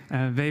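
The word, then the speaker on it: Vay: Vey, by the way, is how Germans pronounce way.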